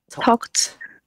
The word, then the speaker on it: talked: Thế là ok, thì ví dụ trường hợp như thế này ấy, nó sẽ đọc là talked. Tại sao? Bởi vì nó có âm k.